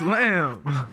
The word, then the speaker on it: lamb: You don't say the B in lamb? No, it's lamb.